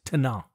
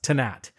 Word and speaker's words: Tannat: on a side note in France the wine is pronounced without the T at the end so it's Tana of course but in Uruguay it's pronounced tanat and when you're looking